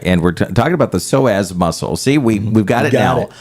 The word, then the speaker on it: Psoas: Jacob saying uh and we're talking about the soaz muscle see we we've got got it up